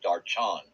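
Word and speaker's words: दर्शन: I think she had 2 dogs, but she had one little dog named Darshan. She said, well, I know that in Hindu, they pronounce it Darchan.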